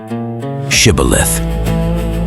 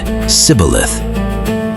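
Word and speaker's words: Shibboleth: Shibilith. The Ephraites couldn't pronounce the sh. They said cibilith.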